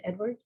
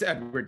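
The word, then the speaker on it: Eadward: and it's spelled e-a-d-w-a-r-d so it's it's still pronounced edward it's edward yeah i just again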